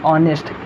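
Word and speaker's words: honest: नहीं दोस्तों, इसका प्रोनाउंसिएशन क्या होता है, ऑनेस्ट।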